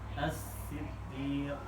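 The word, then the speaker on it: الصِّدِّيق: Assiddiq. Alasan alif ketemu lam. Alif ketemu lam dibaca fathah ya.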